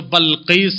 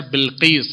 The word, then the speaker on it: بلقیس: کوئی جو بلقیس بولتا ہے لیکن صحیح پروننسیشن ہے بلقیس ہے.